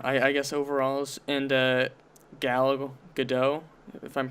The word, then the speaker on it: Gadot: Yeah, I guess overall, and Gal Gadot, if I'm pronouncing Gal it right. Gadot, yep.